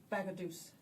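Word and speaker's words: Bagaduce: Bagadoose. Just like the river.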